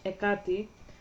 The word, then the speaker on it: Hecate: And pardon me, I'm gonna speak about her, how we pronounce her in my language, Hecate.